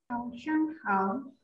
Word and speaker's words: 早上好: Zhao shang hao.